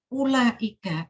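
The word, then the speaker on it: أولئك: Karena ini banyak yang bacanya panjang. Ya, yang tahfidz juga ada yang begitu. Karena saya kan instruktur tahfidz juga, jadi saya nguji tahfidz. Seperti ini, itu ulaika, itu tidak ada u dibaca panjang.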